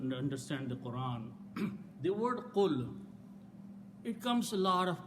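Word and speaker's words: قل: and there is some other thing happens, and pronounce as qul.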